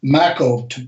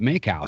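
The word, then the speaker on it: Makow: It's maco. Rhymes with rhymes with tobacco. Tobacco. I'm sorry about that. I've heard I've heard a bunch of people call it Macau.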